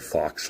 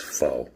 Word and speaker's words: faux: He uh in the first video I said fox leather and he's like, "Um, it's faux by the way." the X is silent.